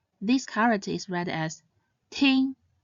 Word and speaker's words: 听: And finally, this character is read as ting. Ting means to listen. Its pinyin consists of the initial t and the nasal final ing. It should be pronounced in the 1st tone, ting, ting.